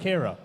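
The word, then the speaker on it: Ciara: Kira, that's it. No, it's... Oh, it's yeah. spelled with a C.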